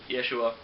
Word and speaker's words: Yeshua: It is actually Yeshua. I mispronounced it during the last episode.